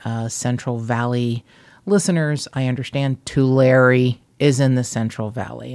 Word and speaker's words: Tulare: But I understand that Tulare, which just kills me to pronounce it this way, Tulare is in the Central Valley, not the Central Coast.